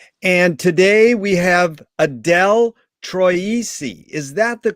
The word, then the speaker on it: Troisi: us as always and today we have adele troisi is that the correct way to pronounce it yes perfect thank you thank you